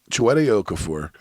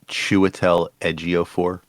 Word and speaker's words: Chiwetel Ejiofor: Okay, listen to this cast: Casey Affleck, Chiwetel Ejiofor, Anthony Mackie, Aaron Paul, Woody Harrelson, Kate Winslet, Gal Gadot, Norman Reedus, Michael Kenneth Williams, Clifton Collins Jr.